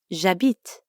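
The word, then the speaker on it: j'habite: say Mattel je m'appelle by the way Abid technically starts with an H but since the French H is silent we treat it like a vowel a bit that's right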